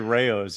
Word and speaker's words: Rao: So you, before I ask you to talk a little bit about the Immortal King Rao, and am I pronouncing, is it Rao or?